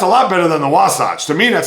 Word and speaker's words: Wasatch: I don't even know if I'm pronouncing that correctly. It's Wasatch, which refers to a mountain range for all ski resorts there in the Utah state.